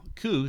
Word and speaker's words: coup: really it's called a coup stick now ku c-o-u-p you can tell that's a french word because you don't pronounce half the syllables um the french by